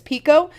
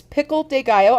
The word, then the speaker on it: pickle de gallo: And it's so funny because a lot of times people think that I am saying it wrong and that it's pico. Nope, it's pickle de gallo.